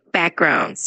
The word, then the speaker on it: backgrounds: Just a tiny note, when you say the word backgrounds, just make sure to emphasize the first part of it like backgrounds.